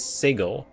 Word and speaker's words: Sigil: in the comments that the correct pronunciation actually is sigle and that sigil kind of marks me as an outlander which okay first of